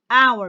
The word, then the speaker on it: hour: going to tell you in english we have few words that i am going to use with it and like the words honor shut up shut up okay honor i have the word hour be i have the word honest so why i'm going to use before it and why and the silence and i'm going to